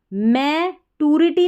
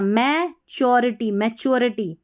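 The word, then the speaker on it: maturity: experience है, अनुभव है, मैच्योरिटी नहीं पढ़ना, मैच्योरिटी, यहाँ पे TU को च करके पढ़ा गया है, तो मैच्योरिटी, समझदारी,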